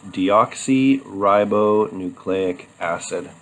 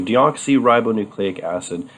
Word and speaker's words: deoxyribonucleic acid: name that's this one right here which is pronounced deoxyribonucleic acid so deoxyribonucleic acid these belong to a family of nucleic acids